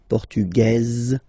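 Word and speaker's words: portugaise: The Feminine form okay masculine portug you don't pronounce the S feminine form portuges you pronounce this Z sound okay and then remember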